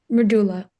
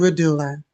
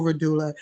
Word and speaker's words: Reddulla: Yeah, Reddulla. Okay, thank you. And Redulla, I mean, oh, Reddulla.